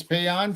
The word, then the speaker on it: Payan: it or something yeah I I pronounce it in English Pon Jr my last name is